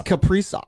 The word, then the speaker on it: Kaprizov: Were they even How do in you the pronounce playoffs? his name now? I thought it was Kaprizov, but now It's Kaprizov.